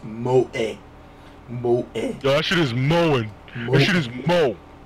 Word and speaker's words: moe: entertainment center on characters to possess such traits pronounced moe a washer is more home you know so